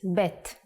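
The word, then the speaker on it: בּ: version is like this if you leave out the dot bet becomes vet the sound of vet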